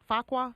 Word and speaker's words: Fuqua: Fuqua. Is it? How do you pronounce it? Fuqua.